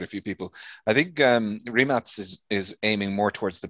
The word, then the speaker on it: Rimac: Of course, everyone is mispronouncing it as RImac. Yeah. It's not the American version. It's the we pronounce everything how it's written. So it's Rimac.